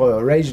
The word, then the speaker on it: Rage: dans mon retour sur rage de Stephen King que que je prononce à l'américaine he parce que c'est rage moi ça m'évoque une